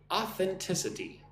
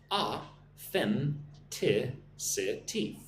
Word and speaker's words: authenticity: So, authenticity, right? Being real, being yourself, not being fake. That's authenticity. Right? A-then-ti-si-ti. 5 syllables. Authenticity. Auth, right? We're getting the TH sound. Gotta lick your teeth.